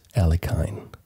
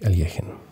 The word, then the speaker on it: Alekhine: and by the way if you are confused about my pronunciation election it's because it's kind of close to how a russian would say it uh the english pronunciation of his name is alekhine so if you hear alekhine that's what most people think i i say i think but i like aliejin anyways we see bishop